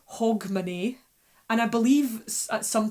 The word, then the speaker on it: Hogmanay: making it up but it was always pronounced more hog money okay hog money and I found this